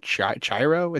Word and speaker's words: Chihiro: Oh gosh, I don't even know how to pronounce this. Chihiro? Chiro? It's Chihiro.